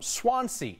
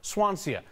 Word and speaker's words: Swansea: Columbine always understood that I was from Swansea not Swansea a height ripped and dropped an extra syllable in there and I screwed